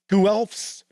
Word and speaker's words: Guelphs: The Ghibellines align with the Hohenstaufen dynasty, clinging to rule in Italy, while Guelphs back the Pope as challenger to imperial authority. Yes, and that is how those are pronounced.